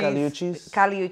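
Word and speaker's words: Kali Uchis: Would be Caliuchis. Oh, is that the Telepatia? Yeah. The one who sings Telepatia? Yes. Right? Oh my God. I didn't even know that's how you pronounce Caliuchis.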